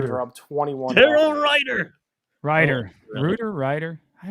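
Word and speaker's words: Ruiter: Daryl Ryder. Ryder. Oh, really? Ryder. I always Reuter mispronounce.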